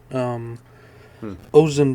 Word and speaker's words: Ozen: I think it's a play on It's ocean. it's it, it's spelled like the way ocean is, but with a Z.